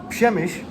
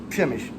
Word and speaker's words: Przemyśl: Today we are in, I just learned how to say this, Przemyśl. There are way too many consonants in this word for the way that it sounds, but Przemyśl.